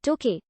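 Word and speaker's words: Tokei: During the early Meiji period, the city was sometimes called Toke, an alternative pronunciation for the same characters representing Tokyo, making it a kanji homograph. Some surviving official English documents use the spelling Toke. However, this pronunciation is now obsolete.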